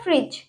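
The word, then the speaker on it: fridge: Okay, next है हमारा फ्रिज, इसमें भी डी साइलेंट है।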